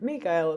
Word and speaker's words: Mikail: Um so I should say I am Mikail because that's more so how they pronounce my name here in Finland.